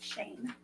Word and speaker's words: Schoen: It's pronounced Shane. Hmm? It's Shane. It's Shane. Shane. Schoen.